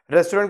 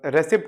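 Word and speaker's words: receipt: हाँ, रेस्टोरेंट का रेस्टोरेंट आता है. हाँ, और रेसिप्ट का रिसीट आता है, राइट.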